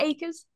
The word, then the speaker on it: Akers: Is it Akers? Yep. Okay, okay, right, okay. I always have to double check when I'm pronouncing stuff, so if I get it wrong, please let me Yep.